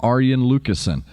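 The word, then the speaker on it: Arjen Lucassen: way i've heard from aryan lucasian that is how you say his name aryan i've had seven literally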